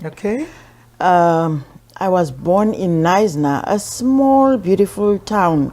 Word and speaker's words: Knysna: It's spelled K-N-S-Y. And I was like, no, it's not No, it is Knysna.